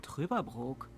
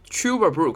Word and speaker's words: Trüberbrook: How can you win a stay in Trüberbrook?